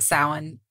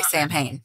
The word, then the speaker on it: Samhain: the northern hemisphere IPS typed salmon phonetically throughout this whole thing so yeah I won't say it wrong yes because when you look at it you're like uh-uh you want to say sam Hayne yeah it's not champagne um I think I've